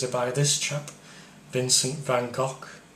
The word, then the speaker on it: Van Gogh: by this chap, Vincent van Gogh. I think it's pronounced Van Gogh if you're Dutch, but I don't know.